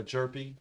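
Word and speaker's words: Hjerpe: is for St Louis uh jerpy it it says it's the H doesn't get pronounced in a in a jerpy um folks this has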